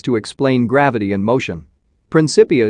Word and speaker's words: Principia: Principia is pronounced with a hard C.